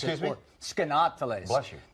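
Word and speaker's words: Skaneateles: Try to pronounce that town, Skanateles is how you properly pronounce Excuse it. me? Skanateles.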